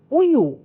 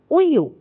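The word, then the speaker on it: 우유: சொல்றது நறு அடுத்து பாருங்க உயு உயு இதுவும் உங்களால உச்சரிக்க முடியும் ஏன்னா உ யூ இது ரெண்டுமே அடிப்படை உயர் எழுத்துக்களை கொண்டு உருவாக்கப்பட்டிருக்கு சோ உய்யு இந்த சொல் வந்து உய்யு அப்போ உ யூ உயுன்னு சொல்றது வந்து கொரியன் மொழியில பாலுக்கு நம்ம சொல்றது உய்யு கண்ணாடிக்கு சொல்றது யூரி அது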